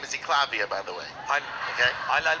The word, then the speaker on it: Eklavya: My Indian name is Eklavya, by the way. Okay. I'll pronounce it for them. He means Eklavya, yeah, Eklavya.